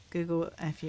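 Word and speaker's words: Google-fu: Google FU is pronounced like Kung Fu.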